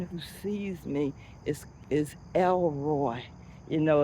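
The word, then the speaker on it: El Roi: but is spelled the one who sees E L and then R O I.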